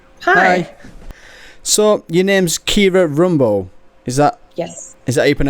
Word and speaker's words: Kiera Rumbough: minute hello hi hi hi so your name's Kira Rumbo is that yes is that how you pronounce it yeah yes I normally get names